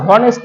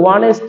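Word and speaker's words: honest: কিন্তু যদি আমরা দেখি এখানে, এখানে কিন্তু আমরা উচ্চারণটা হনেস্ট ম্যান করি না, এখানে আমরা করি ওয়ানেস্ট ম্যান।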